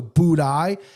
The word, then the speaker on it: Buday: Martin Buday, I used to call him Booty on my show because I didn't know how to pronounce his name, so Buday.